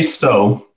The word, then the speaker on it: Tso: Yeah, you know, we get Tso a lot and Chow a lot. We say Tso, which is, it pays homage to General Tso Chicken, or General Tso in general.